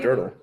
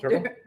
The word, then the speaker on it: Dirndl: Oh, top she's wearing the 3 dirtle. The dirtle. Dirndl? Dirndl.